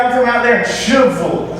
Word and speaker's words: Shelbyville: Shelbyville, probably. Not the case, I found out. Yeah, I spoke to someone who was from that area, and the way he pronounced it, Shubville. I swear, Shubville.